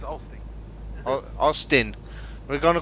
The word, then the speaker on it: Olsztyn: We're not pronouncing the Y's. No, you're not pronouncing the Z. So yeah, it's Olsztyn.